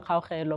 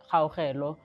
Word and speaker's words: Kaugelo: And my full names are Kaugelo. So the really comes from the pronunciation of Kaugelo. When we grew up in Pretoria, it was pronounced by family members Kaugelo, just to like shorten it.